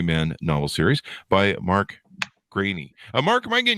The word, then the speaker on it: Greaney: yeah you're nailing it I never noticed when people mispronounce it but it is grainy yeah okay sounds good